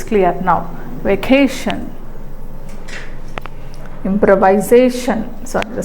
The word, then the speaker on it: improvisation: or dot impro viation improvisation so what will be where will be the secondary stress definitely the secondary stress is on the first second syllable from the beginning improvise improvisation improvisation right next organization organiz